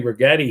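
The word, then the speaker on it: Rigetti: Rhymes with spaghetti. Um although if you got long in the past week, you should be eating ramen. Uh this thing down 10% today. Regetti Computing.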